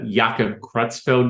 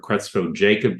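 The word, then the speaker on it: Creutzfeldt-Jakob: I mean, Yaka Kutzfeld disease is the name or Crutzo Jacob disease depending upon who's pronouncing it and where they were trained at.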